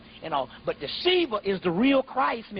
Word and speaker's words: Shiva: Yeah, it's S-I-V-A, but it's pronounced Shiva.